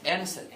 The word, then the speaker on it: innocent: Hai là ta nhấn vào âm đầu tiên là innocent, đúng không?